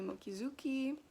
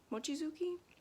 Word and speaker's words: Mochizuki: entertaining and also um hitomi mokizuki mochizuki i think it's pronounced ch i love her videos